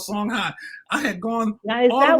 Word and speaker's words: Songhai: not know that there was a place called Songhai I had gone is that one word or two one word okay some places you will see it spell h-a-y but it's pronounced I oh my God song High people and um I had gone all through